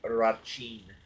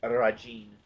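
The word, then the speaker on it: Rajhin: I think she's the only one I've ever heard them pronounce his name Rachin, with the CH in there. I think it's just Rajin or Rajin. She's the only one I've heard do it that way.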